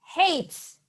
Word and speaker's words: hates: Hates. He hates it. Okay? You have to pronounce the letter S at the final of the word. Hates.